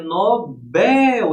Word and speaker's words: Nobel: Então é Nobel, é oxítona, gente. Nobel a síônica é a última.